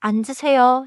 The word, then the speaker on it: 앉으세요: keep 앉으세요. smooth and do not punch the final syllable.